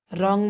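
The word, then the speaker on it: wrong: रॉन्ग में W silent है।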